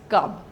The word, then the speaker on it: Kavya: The Kampak is Chanda poetry of the type specified as the Kavya and pronounced as Kab, such as the poems of Samudra Ghosha and Aniruddha from the days of Ayodhya.